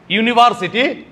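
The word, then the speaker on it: university: ইউনিভার্সিটি আমরা উচ্চারণটা ভুল করি। ইউনিভার্সিটি ওয়াই ইউ এইটা উচ্চারণ।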